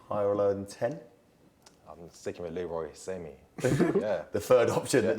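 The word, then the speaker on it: Sané: Does a player rhyme with same? Leroy Samey.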